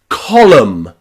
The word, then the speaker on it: column: So remember the letter N after the letter M is nearly always silent in English.